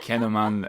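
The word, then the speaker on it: kouign-amann: We call it kinnaman or cinnamon, but it's pronounced something like kinnaman, and it's this quinaman.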